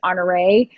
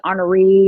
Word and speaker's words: Honoree: podcast sheet I have how to pronounce honor a and the number of people who call me honoree or honoree or something like that is it doesn't sound right to me I know I'm great